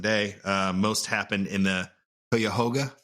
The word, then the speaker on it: Cuyahoga: Most happened in the Cuyahoga. Is that correct? Cuyahoga, yeah. I don't know if that's actually correct. I mean, that's the common pronunciation, I would say.